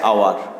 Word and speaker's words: hour: use a because our যখন আমরা উচ্চারণ করি এইচটা আমরা উচ্চারণ করি না, আমরা উচ্চারণ করার সময় ওটাকেই উচ্চারণ করি।